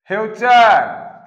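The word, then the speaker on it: future: हमारा फटूरे मत खराब कीजिए। अब फटूरे फटूरे समझिए। ये है ठीक। फ्यूचर उसको मींस तो मालूम था लेकिन प्रोनाउंसिएशन नहीं मालूम था।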